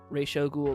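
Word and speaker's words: Ra's al Ghul: have readed is just awful how do you pronounce Rael ghoul Rael ghoul because of Batman the an series that's how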